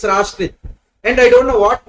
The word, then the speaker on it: Rastrith: So yeah, before you tell next faculty my name wrong, it is Rastrith. STR. Who is STR? Who? Some New Year, all those things. Correct. Okay. So it should be pronounced as Rastrith. Rastrith. Okay. Thank you. We will say Rastrith. T is there. We will say Rastrith. That A should be stressed.